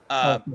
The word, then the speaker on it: Tahlequah: I'm from Oklahoma and live in, how do you say that again? Talaqua. Talqua? Yeah. Talaqua. Talaqua. Go Bucks.